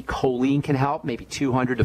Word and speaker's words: choline: important for building bile the nutrient choline and that's spelled ch h o l i n e choline can help maybe 200